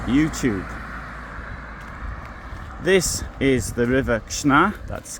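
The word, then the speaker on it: Krzna: This is the river Kishna. That's K R Z N A. Try pronouncing that after a few drinks.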